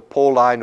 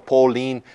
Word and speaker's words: Pauline: of them sometimes also called the pole Line or Pauline whichever pronunciation you prefer Paul line corpus he